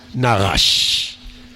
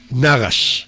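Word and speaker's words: נחש: Alors euh Gina pour le serpent narche Narche, c'est bon pour toi Karen et Gandalina, vous avez bien vu pourquoi elle a dit Narche tu vois le R, elle a bien prononcé narrache d'accord c'est le serpent.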